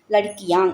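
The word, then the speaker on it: लड़कियाँ: லடிக்கியாங் அப்படி தான் உச்சரிக்கணும்.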